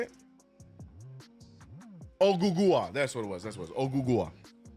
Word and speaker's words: Ogugua: Agua? How do you say it? Ogugua.